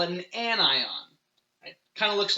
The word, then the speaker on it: anion: spelled onion wrong but we pronounce it anion because we want that ion part still be an important piece of that word so chlorine is an anion it's just a negative